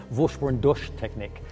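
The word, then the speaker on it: Vorsprung durch Technik: Vorsprungduk technique? How do you say it, and what does it mean? Okay, you're very close. I mean, I guess putting a typical German accent on it, Vorsprungduk technique is the way to pronounce it.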